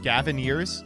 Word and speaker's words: Gavineers: It rhymes with pioneers. Gavineers?